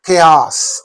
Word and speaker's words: chaos: Only the second one is the right pronunciation, right phonetic transcription, chaos.